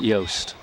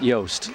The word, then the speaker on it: Jost: yep that's the six six ross josh yeah jost i think they pronounce it yoast i believe they do pronounce it yoast so it's uh they